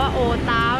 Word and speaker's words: โอวต้าว: ได้ คะ ลิน สามี ต้อง อ่าน ออก เสียง ว่า โอ ต๊าว นะ คะ ทุก คน